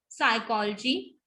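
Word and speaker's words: psychology: P is silent in the word initial spelling sequence. Initial spelling sequence कैसी हुई, जैसे जब इनिशियल में P आता है तो ज्यादातर, not most of the times but mostly silent होता है. जैसे निमोनिया, न्यूमैटिक, साम, साइकोलॉजी एंड स्यूडोनिम.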